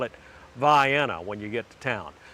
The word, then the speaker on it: Vienna: pass back and forth on I75 but it's pronounced via now if you call it uh Vienna to any of the locals around there they